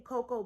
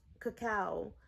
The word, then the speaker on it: cacao: and cacao glaze so every time i'm saying cocoa just think cacao because that's the right pronunciation and i was just